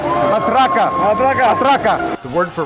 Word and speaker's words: matraca: More music makers, drums, maracas, matracas, oh my! Well, ¿cómo se dice? Que suene la matraca. Matraca.